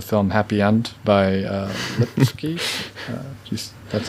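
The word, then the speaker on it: Lipský: check out the film happy end by uh lipsky that's how it's pronounced it's has a very similar uh concept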